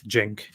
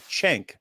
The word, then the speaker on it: Cenk: Okay, the C is pronounced as a J. Yeah, it's Cenk. Okay, good, Cenk, because I heard him called that, but I've also heard people call him Cenk.